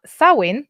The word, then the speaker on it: Samhain: So Samhain - this is, by the way, the Modern Irish pronunciation is not clear what the the the old Irish pronunciation would be and this is from